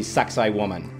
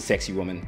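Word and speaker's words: Sacsayhuamán: archaeology you cannot miss going to suxi woman Yes you heard it right basically pronounced a sexy woman which is a citadel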